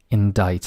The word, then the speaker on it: indict: by a grand jury indict and as you can see the sea is silent the next one is